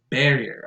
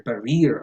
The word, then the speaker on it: barrier: The first one in this list is barrier. I hear barrier a lot, but that goes on the stress goes on the first syllable, barrier.